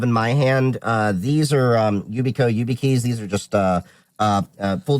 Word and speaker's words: Yubico: So spell it. They are made by Yubico, Yubico.